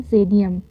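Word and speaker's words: Xydium: लेट me clarify the spelling of एक्स वाई डी आई यू ए एम जिसको हम पढ़ेंगे जेडियम। ठीक है? जेडिएम का स्पेलिंग को क्लेरिफाई किया गया है।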